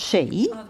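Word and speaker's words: Sidhe: the people are pronounced she so the people so that's the Irish pronunciation and the Landers pronounced CID which is the Welsh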